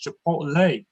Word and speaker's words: chipotle: He said, Dad, it's chipotle. I said, great. This kid got a 40 on his Spanish regions. He's correcting me. Yeah. Whether it's chipotle or chipotle, I really do love their pulled pork for distance.